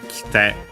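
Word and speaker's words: 来て: uh The i is barely heard if at all because it is between our voice consonants so the accent also moves. Kite on the te.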